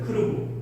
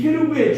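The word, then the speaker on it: כרוב: 음역은 외국어 발음을 자국어 발음으로 표현하는 번역의 한 방법인데, 원래 히브리어에는 모음이 없습니다. 자음만 있었어요. 그러니까 케루브는 크루브였어요. 크루브. 크루브인 거예요. 이 케루브의 중국어 발음이 찌로보입니다.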